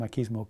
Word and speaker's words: machismo: with just about pronunciation the word machismo comes from Spanish and in Spanish the pronunciation would be machismo the word's been adopted into English and one will hear different pronunciations most people say machismo but one or two people will say machismo I'm not sure where the pronunciation M kismo comes from uh but it is something